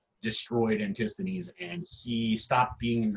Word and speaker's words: Antisthenes: Antisthenes. Okay? Again, that's how you pronounce ancient Greek by each vowel group. Antisthenes.